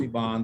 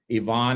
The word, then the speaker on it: Ivan: You could just Google, my name is spelled like Ivan, but it's pronounced Yvonne. So Dr. D is an initial, Yvonne, I-V-A-N, Young, and I'm easy to find.